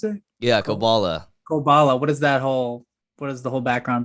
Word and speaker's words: Koballa: How do you pronounce it? yeah, Ko Koballa. Koballa.